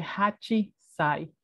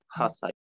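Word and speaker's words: 八歳: No se dice hachisai. Hachisai no es correcto. ¿Se dice? Hasai. Hasai. Lo mismo, tenemos una pequeña tsu.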